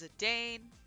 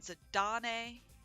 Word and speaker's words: Zidane: tidus i don't care he's titus just like how it's zidane not zadane looking at you thanks to